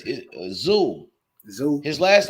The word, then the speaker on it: Tszyu: Hey Kim, it's Tszyu. Tszyu. His last name is just Tszyu. Tszyu. Yeah. Damn. So that Tszyu. So the TS is silent.